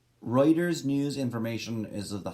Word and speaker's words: Reuters: Quote from the website, if you are using content from Reuters, right, I just said it wrong, Reuters service as source of facts, figures, statements, quotes,